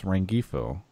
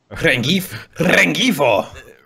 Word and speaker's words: Rengifo: Next up, our guest for this week, Rengifo. How's my pronunciation on that? It's incorrect. Rengifo.